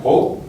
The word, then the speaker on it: Broou: ter hoje à noite conosco os fundadores do Pro, estou pronunciando certo?